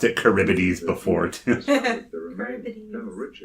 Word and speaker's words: Charybdis: Colonel Stephen Ritchie was the commanding officer of the explorer ship Charybdis. I'm not really 2037. sure how to pronounce it. Charybdis was one of the beasts that Odysseus fought on his way back in the Odyssey.